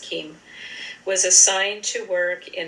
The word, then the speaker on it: Cheim: Beginning in December 1944, a Dutch Jew, Rudolf Keim, I believe it is pronounced, it's Cheim, I believe it's pronounced Keim, was assigned to work in a labor service office.